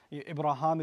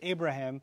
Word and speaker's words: Ibrahim: So when, you know, your Western friends may say Abraham, that's actually not entirely an incorrect pronunciation of the name.